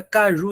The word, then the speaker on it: caju: pronuncie aí a palavra caju em voz alta C Ju Eita Professor a sílaba mais forte é essa aqui Caju foi essa daqui que foi mais forte do que todas as outras Pois é essa daqui